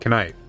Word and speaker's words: knife: Um anyway, the origin of uh the the word knife you you used to pronounce the K. It used to be knife and it used to be Gnome.